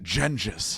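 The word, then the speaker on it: Genghis: Jim, it's pronounced Genjis.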